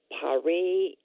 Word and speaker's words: paremiology: And you have also been elected to the International Association of Paremiology.